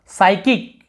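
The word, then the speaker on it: psychic: यहाँ पर भी देखेंगे आप साइकिक, यहाँ पे पी भी साइलेंट होता है, ये भी आपको बता देता हूँ, पी भी साइलेंट होता है यहाँ पे, केवल साइकिक पढ़ते हैं, मानसिक को साइकिक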